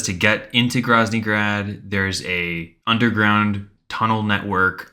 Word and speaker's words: Groznygrad: How do you pronounce it? Groznygrad.